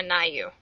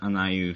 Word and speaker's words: Aniu: had have personally yeah personally I prefer aayou and that's how my personal fan character's name is supposed to be pronounced and that's how I